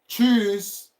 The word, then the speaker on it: Tschüss: You can say ciao, you can say tschüss. That is bye-bye. Tschüss, bye-bye. It's like you want to say chooks of Igbo. The Nigerians. You say tschüss.